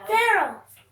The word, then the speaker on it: Pharaoh: I already know, but Rhymes with arrow. oh, Pharaoh.